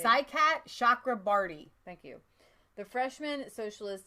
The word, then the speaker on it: Saikat Chakrabarti: Saikat Chakrabarti.